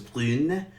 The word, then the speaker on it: brune: So brun becomes brune, vert becomes verte.